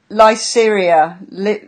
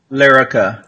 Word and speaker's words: Lyrica: would I eventually not need the Lyceria? How do you say that word? Lyrica.